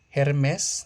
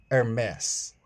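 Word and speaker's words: Hermès: Luxer brand pronunciation Versace. No, it's Versace. Hermes. No, it's Hermes Gucci.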